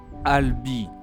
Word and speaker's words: Albi: So, the letter A makes the sound A. Then the letter L. Al. Then we add B. That's Alb. And last we add the letter I, which always makes the sound E. And here we go. Al. Ali. Let me pronounce it once more. Albi.